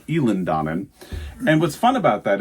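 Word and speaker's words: Eilean Donan: Eland Donan castle which I was thought was Eileen Donan but no it's pronounced elen Donan and what's fun about that is after we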